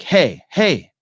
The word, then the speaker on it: Hej: You can pronounce Hej like hey.